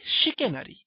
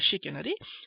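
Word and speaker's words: chicanery: এটাও প্রতারণা করা এরপরে শিকেনারি দেখো ইংরেজিতে চিকেনের মত শুনতে একটা শব্দ বানানটা চিকেনের মত সি এইচআই উচ্চারণটা শিখেনারি সেটা হচ্ছে প্রতারণা করা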